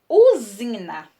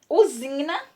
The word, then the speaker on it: usina: O S entre vogais representa o fonema Z. Esse fonema, na nossa pronúncia, quando a gente pronuncia as palavras, ele aparece som de Z, mas é grafado com a consoante S. Vamos ver o exemplo. Usina. Usina, né? Aqui o S está entre duas vogais, então nós grafamos com